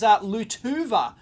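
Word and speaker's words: Lietuva: It actually says Lutuva, if I'm pronouncing that correctly. Apparently that's the pronunciation for Lithuania.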